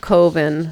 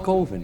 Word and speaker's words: coven: way it's pronounced coven man. What else could it be pronounced? Uh coven that's the proper word. No no no no no. Coven sounds like oven, man.